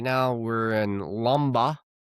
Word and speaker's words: Lombok: Right now we're in Lomba, spelled l o m b o k. K is silent, so I learned cuz I got made fun of for saying Lombok, but it's not Lombok.